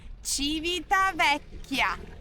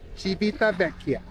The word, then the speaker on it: Civitavecchia: And then how many hours it would have taken from Rome to Civitavecchia, however you say that name. You pronounce the name of the city? Civitavecchia. Civitavecchia.